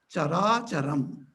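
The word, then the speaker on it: carācaram: If you combine the chara and achara, put together, conjointly, it is pronounced as chara charam.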